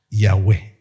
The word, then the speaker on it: Yahweh: Y a la hora de pronunciarlo es ya U, E, Yahweh.